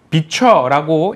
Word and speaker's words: VCHA: 지금 본다면 VCHA, 저도 이렇게 읽었었는데 이것을 비춰라고 읽는다 하더라고요.